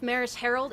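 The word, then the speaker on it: Maris Herold: to happen in a few minutes uh chief maris harold is going to come down and speak as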